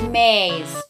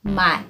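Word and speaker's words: mais: is corn in filipino nope it's not pronounced as maize or maize or mice corn is my is two syllables two syllables and open your mouth good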